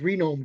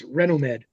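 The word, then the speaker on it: Renomed: three year four years I always thought it was romed it's not it's renom Med so so I stop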